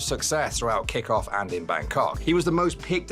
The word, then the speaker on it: Bangkok: Bro, why is he putting the pronunciation on the second part?